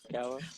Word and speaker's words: Arakawa: Arakawa.